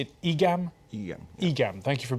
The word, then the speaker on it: EGAM: EGAM.